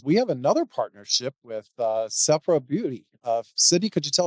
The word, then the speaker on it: Sephora: I want to turn to Sydney because we have another partnership with Sephora Beauty. Sydney, could you tell us a little bit about that? Sure. So Sephora. Thank you. I stand corrected. Sephora.